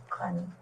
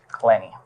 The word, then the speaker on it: Clenney: right and your last name how do you pronounce it clenny clenny okay that's the one that I need needed